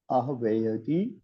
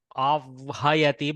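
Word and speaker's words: आह्वयति: See, this can be, you can pronounce this as avhayati, but avhayati is very impossible to pronounce. Putting the vakara before the hakara is impossible in the mouth. So here we keep the garbhastha shishu vakara as first mother and then baby. So we do ahvayati.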